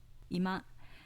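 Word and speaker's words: 居間: on the first mora ima meaning living room with an accent on the second mora compare ima example three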